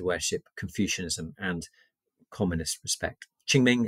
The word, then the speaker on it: Qingming: Confucianism and communist respect Ching Ming is spelled q-i-n-g-m-i-n-g uh Christianity um as